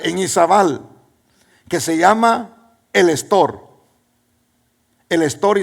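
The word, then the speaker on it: El Estor: yendo para Puerto Barrios toda la gente dice el Store pero no es en realidad el Store se escribe así el la ciudad estor yaval literalmente se escribe así pero no se debiera escribir así porque es en inglés y se llama the Store the Store porque los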